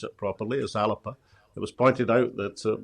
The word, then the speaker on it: Alba: other assets i mean now i've learned to pronounce it properly is alipa it was pointed out that my scots pronunciation of alba didn't the the garlic speakers of scotland so